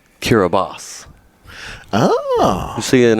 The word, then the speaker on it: Kiribati: When he goes, Kiribati. That's how I pronounced it. It's not close. And you know it's not close. No. For him, it was. It's pronounced Kiribati.